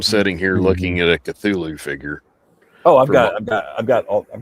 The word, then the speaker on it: Cthulhu: Like Cthulhu is an approximation of what it's supposed to sound like, but Right. it's not correct. It's actually Cthulhu. It's not something that's made to be pronounced by the human tongue, so we're not ever going to be right.